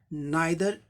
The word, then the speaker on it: neither: He has two sons, but neither is good. Neither का उच्चारण neither भी होता है, neither का है या neither का है, दोनों ठीक है।